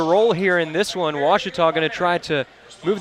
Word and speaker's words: Ouachita: How would you pronounce it? Ouachita. Ouachita. It's Ouachita Baptist University. Get it right. It's Ouachita, people.